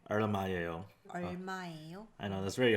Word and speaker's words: 얼마예요: The 얼. like your tongue has to be touching the roof of your mouth when you're saying earl. So it's not like an L sound or an R sound, it's like a earl.